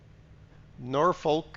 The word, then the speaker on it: Norfork: a needle yeah exactly Norfork is supposed to be pronounced with an R Norfork Norfork supposed to be closer to Northfork than what some stupid official wrote down uh hey you got